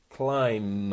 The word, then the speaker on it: climb: can I pronounce climb climb up okay so it's a must sound at the end climb climb a tree